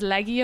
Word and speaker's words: Leahy: Because like Leahy, they pronounce as Leggy over here, or Gallagher, they pronounce as Gallagher.